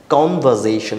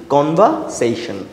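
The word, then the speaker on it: conversation: দেখেন, কনভারসেশন, আমি কিন্তু এখানে কনভারসেশন বলছি না, আমি এখানে কী বলছি, কনভারসেশন, নট খন. এখানে কিন্তু আমরা খ উচ্চারণ করবো না, this is the exception, right?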